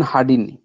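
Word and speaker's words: Hadean: spelling এ ভুল আছে লিখেছিলাম এইচ এ ডি ই এন হার্ডিন উচ্চারণ হার্ডিন এইচ এ ডি ই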